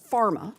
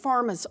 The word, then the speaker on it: PhRMA: Riley, your organization, called PhRMA, I think is how it's pronounced, represents drug companies, and according to HRSA,